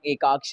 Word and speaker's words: Ekaaksh: guys, मेरा नाम एकाक्ष है, आप लोग को इसका स्पेलिंग चाहिए तो EKAAKSH, तुम लोग इसको यूट्यूब